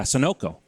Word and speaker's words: Sunoco: I think was called Sunna Co or however you pronounce that Sonico Sunoco yeah Sunoco and they talked about